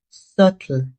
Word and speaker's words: subtle: The B is silent. The correct pronunciation is subtle.